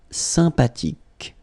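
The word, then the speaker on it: sympathique: Remember the ash h is not pronounced sympatic.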